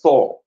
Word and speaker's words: soar: You need to saw you need to soar like s o a r. People norally say so. No, it's not so. It is saw like s a w like you pronounce I saw him.